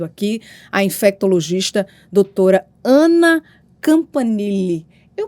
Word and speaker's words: Campanile: Enfim, temos muito a conversar e hoje nós estamos recebendo aqui a infectologista doutora Ana Campanile. Eu pronunciei certo? Pronunciou certinho. É Campanile.